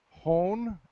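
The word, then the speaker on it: hón: okay how about heart it's either hohn h-o-n it's a long o or o-r-a with the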